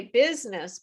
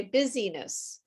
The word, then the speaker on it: business: For example, the word business, we say business, but I hear students say busyness. Busyness.